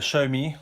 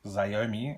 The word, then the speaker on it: Xiaomi: So today we're looking at the Xiaomi, which is the correct way to say it, as opposed to Xiaomi, as you would think to say it, Mi 5.